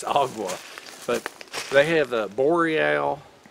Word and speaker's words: AGAWA: agua up in Canada I mistakenly in my Southern dialect pronounced agawa but I found out it's Aqua but they have a